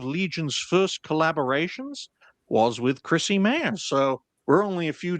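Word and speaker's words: Chrissie Mayr: I'll quote tonight's Chrissy Mayor at Chrissy Mayor. That's how you pronounce her name.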